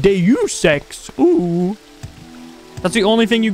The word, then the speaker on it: Deus Ex: that game too keep moving oh jumbo it's pronounced deus ex that's the only thing you guys will help